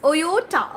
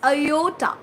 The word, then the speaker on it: iota: I pronounce as Oyota. Okay, it's not Oyota. It is Iota.